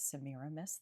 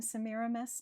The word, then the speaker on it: Semiramis: Tamra, we see that this name scans the same way, emphasis on the second and fourth syllables every single time. So that's a pretty strong indication that that's how Shakespeare wants us to pronounce it.